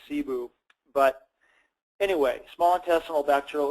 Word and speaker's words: SIBO: small intestinal bacterial overgrowth I sometimes mispronounce whether it's cybo or sigh boo or SIBO I tend to naturally say see boo but anyway small intestinal